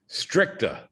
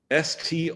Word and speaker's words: stricta: simple one to spell stricta s-t-r-i-c-t-a like strict with an a on the end of it aristotle stricta the other